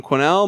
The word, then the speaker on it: Quesnell: you and Twitter I'm just my name quenelle my last name is spelled qu es any ll change about that